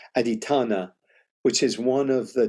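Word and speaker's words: adhiṭṭhāna: Aditthanna. I did the accent on the A. Aditthanna, which is one of the 10 perfections or paramis in Buddhism.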